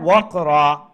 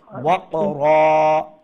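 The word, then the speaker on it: وَقْرًا: এখন কি হবে যে একটা জবর চলে যাবে এবং এক আলিফ লম্বা করে আমরা স্টপ করব, ওয়াকরা এইরকম।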